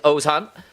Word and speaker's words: Ozan: The name is not Augustus Khan. It is Ozan and Professor Salari with her linguistics course keeping his all in the loop.